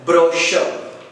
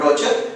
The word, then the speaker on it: brochure: we should pronounce a brochure saint brochure you should concentrate it's a two syllable word which we should positive on the main one brochure not Roger its brochure coming to the telephone